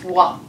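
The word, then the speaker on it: は: Là, ici, vous voudriez bien sûr réutiliser le wa. Ce qui me permet de vous dire que cette particule de sujet a une façon particulière d'être écrite qui est ha. Donc, on écrit ha, mais on prononce wa.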